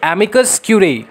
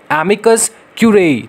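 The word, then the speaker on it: amicus curiae: अभी देखो एमिकस क्यूरेई, ठीक है, एमिकस क्यूरेई, प्रोनाउंसिएशन करो, एमिकस क्यूरेई, ठीक है, इसका मतलब क्या होता है?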